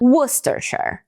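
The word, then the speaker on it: Worcestershire: A pronúncia dessa palavra não é tão difícil. O difícil é a escrita mesmo. Então a gente fala wostershare. Wostershare.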